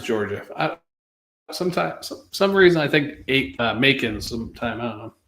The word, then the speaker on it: Macon: Some reason I think Macon sometime. I don't know. Maybe because it rhymes with bacon.